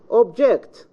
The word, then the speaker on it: object: I say object, the second syllable. Subject, the second syllable. Report, the second syllable. However, it can be in the first syllable. Report, subject, object.